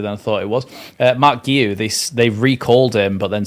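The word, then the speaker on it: Marc Guiu: Oh, Mark Guiu. Okay, that was a lot easier than I thought it was. Mark Guiu, they recalled him, but then Sunderland instantly, within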